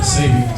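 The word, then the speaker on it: Sabeans: Yeah, Sabians.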